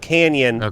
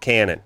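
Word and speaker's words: Cañon: Yeah, it has the Umlaut or senior squiggle over the N, and it should be pronounced Canyon, but everyone always called it Cannon, and that's what they still do.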